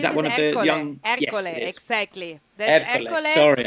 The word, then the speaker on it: Ercole: Ercole, yes, exactly.